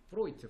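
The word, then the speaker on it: Freud: 프트가 어 프로이트 프로이트 요게 프로이트라고 읽어요. 독일 사람 이름이라서 오이라고 있어.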